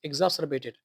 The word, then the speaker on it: exacerbated: Pronunciation is exacerbated.